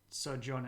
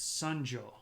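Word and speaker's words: Seonjo: It's not Sojon, it's Sunjo.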